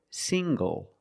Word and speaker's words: single: Also this word, single. Single. The NG makes the nasal sound plus the hard G.